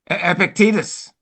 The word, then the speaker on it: Epictetus: And how do you pronounce that guy's name, Billy? Billy would know. You're ripping Epictetus.